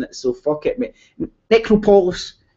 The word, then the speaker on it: Necropolis: Necropolis. It's not Nick.